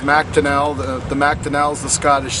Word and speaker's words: McDonell: It's McDonell. The McDonell is the Scottish side, and it looks Irish, but I'm both Scottish and Irish, but it's pronounced McDonell.